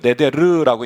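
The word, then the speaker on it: נדר: 서원이라는 말을 히브리 말로 이렇게 읽어요. 네데르라고 읽는데 네데르 뜻이 뭐냐면 하나님께 자발적으로 드리는 약속이라는 말입니다.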